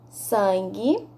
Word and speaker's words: sangue: palavras em voz alta sangue enguiça aguentar linguiça nas palavras sangue e enguiçar não pronunciamos a letra u vamos repetir sangue e